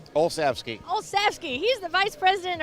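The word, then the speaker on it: Olsavsky: Tom, tell me the pronunciation of your last name. Olski.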